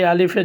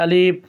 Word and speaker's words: আলিফ: আলিফ, অনেকে আলিফের জায়গায় এখানে টান দিয়ে দেয়, আলিফ বলে, এটা ভুল। আপনাকে সঠিক উচ্চারণ করতে হবে, বলতে হবে আলিফ, বা, তা, সা, সা হরফটা একটু নরম করে পড়তে হবে আপনাকে।